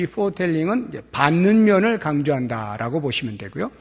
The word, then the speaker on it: foretelling: 아주 유사한 발음인데요. foretelling, foretelling 이라고 하는 게 있어요. foretelling, 제일 처음에 나오는 foretelling은 F-O-R-E-T-E-L-L-I-N-G, foretelling.